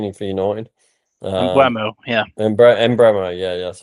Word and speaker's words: Mbeumo: Mbeumo, yeah, that's how you say it.